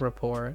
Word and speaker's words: rapport: Is this a French word? That's why it's pronounced rapport.